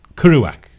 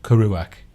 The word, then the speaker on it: Kerouac: quite difficult Jack Kerouac that's not how you pronounce it kuru whack I think not curry back I said I'd do it with the broomy emphasis in the wrong place then he Bruce's on